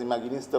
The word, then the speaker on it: Imaginista: Second project was Bauhaus Imaginista, which is pronounced as Imaginista by the Germans, which is based on, again, multiple things.